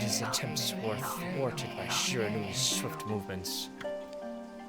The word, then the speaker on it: Shiranui: Also, yes, that's how these names are pronounced. The wolf kept a watchful eye on anyone who ventured outside the village, and made a habit of patrolling the streets at night. People assumed that the wolf to be a familiar of Orochi. This is Japanese language, so they pronounce all the vowels the same.